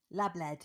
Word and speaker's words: lABLEd: lABLEd is as it's phonetically spelled.